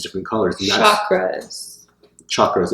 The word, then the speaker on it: chakra: are all these different colors the other frats chakras it's pronounced light because it's a Sanskrit everybody say